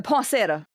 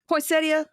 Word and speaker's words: poinsettia: Um I I swear I normally say this plant's name wrong because I talk too fast sometimes. I like the poinsetta. poinsetta poinsettia poinsetta. It's poinsettia. If I slow down, I could say it.